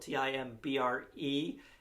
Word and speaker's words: timbre: uh as as the timbre uh of the sound it's actually spelled t-i-m-b-r-e uh but it's pronounced the timbre uh and we also